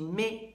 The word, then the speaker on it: mets: There's lots of T's and S's on the ends of those verbs, but they're all silent. So je mets, tu mets, il met.